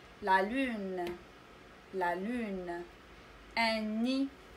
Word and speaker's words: nid: Un nid. دي لا تنطقنا نقول نيد إنما ني. Un nid.